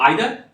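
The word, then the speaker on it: either: इसको आइदर और ईदर को भी प्रोनाउंस कर सकते हैं आप।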